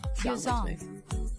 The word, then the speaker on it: Yeosang: The group consists of Hongjoong, Seonghwa, Yunho, who right now looks nothing like Yeosang, Yeosang, he's cute.